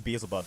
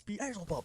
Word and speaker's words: Beelzebub: says, my name's well, he says Beelzebub and my friend mispronounces it. And Beelzebub got really, really angry. He's like, no, it's Beelzebub. That's how you're supposed to say it.